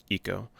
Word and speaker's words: Ico: yep that pronunciation's fine but ico eco ico it actually is um eco in case uh but